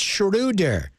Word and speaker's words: Schröder: to go back yeah you got to pronounce his name correctly fam when you get on ESPN it's shuder he is German it's a German that's